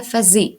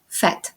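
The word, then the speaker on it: vous faites: часто роблять помилку а вони орієнтуються на особу Ну і думають якщо нуфезу то ву буде фези але насправді Ні вфет тому будь ласка це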